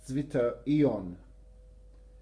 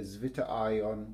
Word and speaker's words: zwitterion: formed an ion, and its name is a German word. I'm going to do my best to pronounce it properly. Apologies if it's wrong, but I think it's pronounced something like this: zwitterion. I would normally say zwitterion, which is probably totally wrong, but there you go, zwitterion.